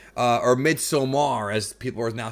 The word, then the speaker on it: Midsommar: I expected Parasite to be a movie like Midsummer, or Midsommar, as people are now saying it's pronounced.